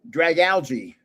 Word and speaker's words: Dragalge: Oh, Dragalge.